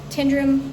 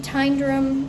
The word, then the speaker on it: Tyndrum: I'm going to do about 20 km to get into Tindrum today. Tendrum Tundrram. It's kind of pronounced both ways from there.